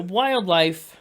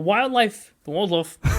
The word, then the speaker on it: Wldlfe: The Wldlfe, they're a smaller band, a newer band, probably a name you're maybe hearing for the first time, just like we were.